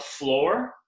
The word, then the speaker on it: flor: You have floor and you have no floor. Now, floor is spelled F-L-O-R.